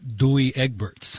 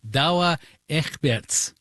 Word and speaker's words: Douwe Egberts: And as a public service for non-Dutch speakers like me, one of the Peet's coffee brands is not Douwe Egberts. I'm told it's Douwe Egberts.